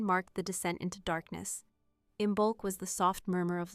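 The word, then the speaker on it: Imbolc: Imbulk, pronounced imbulk, was not loud, not sudden.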